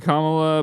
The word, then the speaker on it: Kamala: cool does it say Kamala pronounce Madam president if that's too hard for you it says comma and then Comm La if that's too hard